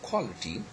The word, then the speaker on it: quality: Quality is a word where actually the stress falls on the first syllable, okay.